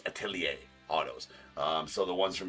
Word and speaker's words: Atelier: I think it's pronounced Atelier. I looked it up. It's Atelier autos.